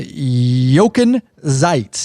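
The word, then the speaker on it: Jochen Zeitz: that but Hardy's board said that director uh yoken zeites is how you pronounce would serve as acting CEO and board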